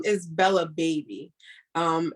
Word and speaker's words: Bebe: So the name is Bella Baby. And it's spelled Bella Bebe. So a lot of people say BB, but it's actually baby because in French, BB is baby.